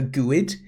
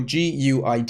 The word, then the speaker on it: GUID: Now, fortunately, there's a thing called a GUID, or GUID, it's spelled.